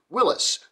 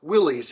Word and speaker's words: Willys: His name is Welsh in origin, and though it is spelled with a Y, the man himself pronounced his name Willys, and not Willys as is commonly done in America.